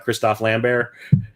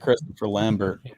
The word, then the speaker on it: Christophe Lambert: with Natasha Henstridge and Christophe Lambert. Yeah. I like how you say his name properly. I always say it Christopher Lambert.